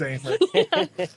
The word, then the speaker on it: Aimer: And his name rhymes with Aimer. Because it is Aimer.